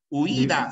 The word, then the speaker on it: huida: Huida, sí. Se pronuncia así, huida. Es una palabra grave que termina en vocal.